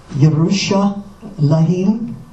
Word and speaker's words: Yerushalayim: And many of the names in the Bible that begin with this letter are usually mispronounced by English speakers because that letter in those names are transliterated in English Bible with the letter J rather than Y.